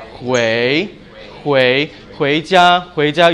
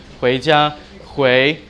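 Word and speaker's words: 回家: Hui, you can go up, hui jia, you say this to taxi drivers, you be like, I want to go home, hui jia, and jia, got it?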